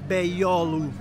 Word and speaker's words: Beyoğlu: Si scrive Beyoğlu, si legge Beyoğlu. E adesso andiamo in una via laterale, perché qua c'è davvero un bel po' di casino. Oggi ci sono dei tifosi del Galatasaray, con le maglie rosse. Ok, andiamo a fare un giro di qui e vi porto nel quartiere di Beyoğlu. La G non si pronuncia.